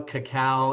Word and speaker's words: cacao: Cocoa, cacao. It's pronounced Cacao.